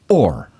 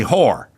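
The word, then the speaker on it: Oher: Orr. Oh, Orr. Yes. Oh, I thought it'd be whore. What is, how do you spell? I spell fine. How do you spell for Michael Orr?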